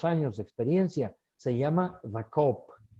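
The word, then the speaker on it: Co-op: de experiencia, se llama The Coop. Se escribe ZA, el, la en inglés y luego la abreviatura de cooperativa, C-O-O-P.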